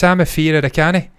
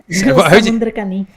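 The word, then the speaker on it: Samuthirakani: How do you say this guy's name? It's Samafir Rakani. Samafir Rakani. Samundrakani. Say that again, please, Ruth. It's Samundrakani.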